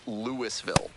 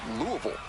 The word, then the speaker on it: Louisville: There are a few acceptable ways to pronounce this city's name, but if you don't want to find yourself in trouble, just don't call it Lewisville. If you want to sound like a local, it's Louisville.